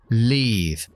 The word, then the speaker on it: leave: para diferenciar muchas palabras Imagínate que decimos vivir o salir vivir con la i corta Live y salir con la i larga Live Leave en realidad la i corta tiene